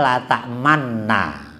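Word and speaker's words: لا تأمنا: La ta'manna kan, tulisannya la ta'manna. Ya dibacanya ismam. Ismam itu monyong dulu baru meringis.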